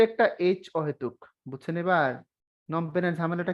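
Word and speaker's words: Phnom Penh: নমপেনের ঝামেলাটা কি? তাহলে মাঝখানে হচ্ছে বানানটা ANOM, নম, PEN পেন, এই হলো নম পেন। শুরুতে একটা পিএইচ, শেষে একটা অতিরিক্ত এইচ।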